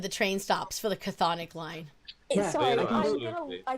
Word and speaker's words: Chthonic: Chthonic and Orenic. I don't know if that's how you pronounce it.